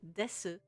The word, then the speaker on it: desu: It's spelled desu, but you don't say the u a lot of the time. It's just des, like a incredibly short u.